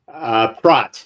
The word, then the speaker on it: Pracht: Pracht. It's like yacht. Oh, excuse me. Pracht, like kind of silent CH, Pracht? Yeah, Pracht.